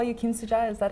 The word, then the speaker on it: Kimsooja: sure he calls great it's just just one name altogether great you know Susan and Korean and when I spell it American Westerners remember my name quite easy because of Susan yes or Susie it's just it's just missing